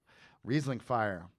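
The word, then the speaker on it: Rieslingfeier: he later founded riesling how do you say reasoning fire yeah exactly there you go riesling fire like the fire festival and this is scary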